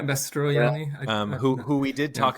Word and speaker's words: Mastroianni: Mastroianni, I think. Mastroianni. Extra syllable in there. Mastroianni.